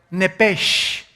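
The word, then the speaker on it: נפש: es la palabra hebrea nepes así como suena n e p e s h nepes la palabra la letra o las letras sh en el hebreo se pronuncian en hebreo como J Entonces se pronuncia y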